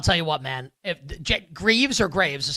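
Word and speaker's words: Greaves: If Greavves or Graves is how you pronounce his last name, the Columbus goalie. Oh, Jack Greavves. Yeah, I think it's Greavves. Yeah, it's Greavves. That's how it's spelled.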